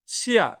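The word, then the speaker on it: chien: শিয়া, এরকম টাইপের আরো অনেক কিছুই পাবেন, যে আই ই এন এর উচ্চারণ হচ্ছে ইয়া টাইপের হবে। সো এটা তখন আপনি দেখবেন শিয়া মানে হচ্ছে ডগ বা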